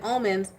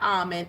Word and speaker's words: omen: and it's called and the pronunciation is Omen not alen it's Omen for whoever needs it okay that's for whoever else watches my channel and like to take it's Omen not alond yes yes but anyways